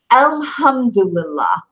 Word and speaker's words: alhamdulillah: back your throat here al hamdulillah try that one alhamdulillah alhamdulillah alhamdulillah alhamdulillah not as syllables alhamdulillah okay really try it all together I'm gonna say it